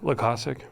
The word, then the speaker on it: Loykasek: Loykasek. Loykasek. Okay. Lacoste, like Lacoste.